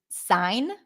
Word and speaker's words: sign: look at the word sign right so here the G is not pronounced but when this word